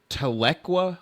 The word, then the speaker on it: Tahlequah: And they built their first new store in Tahlequah, Oklahoma.